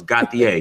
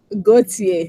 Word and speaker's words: Gauthier: It's Gauthier, correct? Like the ER is silent, correct? Gauthier, yes.